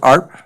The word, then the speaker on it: Arp: You pronounce it Arp? I do.